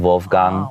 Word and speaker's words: Wolfgang: person, I would say Wolfgang Amadeus Mozart. Oh, but okay. The pronunciation in German is similar to, I'm going to say it correctly, but it's Wolfgang. So it's more like a V sound, Wolfgang.